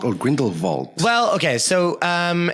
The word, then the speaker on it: Grindelwald: Is it Grindelwald or Grindelwald? Well, okay, so if you want to pronounce it properly, it would most likely be Grindelwald. Yeah. But all the Americans in the film say Grindelwald.